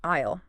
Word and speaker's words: aisle: In a grocery store, excuse me, where can I find the milk? And, oh, that word, aisle, pronounced I.